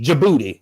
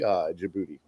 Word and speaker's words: Djibouti: The D is silent. It's just the G. Djibouti.